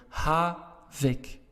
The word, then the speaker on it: havik: k's at the end why don't you write to the case because your stress is on the first part of the word ha vic okay so when you